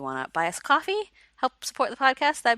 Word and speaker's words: Ko-fi: Something that I will be adding probably to the spiel is I've created a coffee account for us.